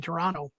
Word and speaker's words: Toronto: There's no second T, Toronto.